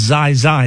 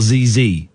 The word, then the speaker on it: ZieZie: His name is pronounced Zai Zai, not ZZ.